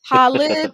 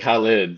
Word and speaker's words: Khalid: with your name now there's two ways of pronouncing it we didn't get a chance to really go through that but Halid or khid how do you pronounce your name I like I like Halid that's that's how they say it over in the bill so yeah so we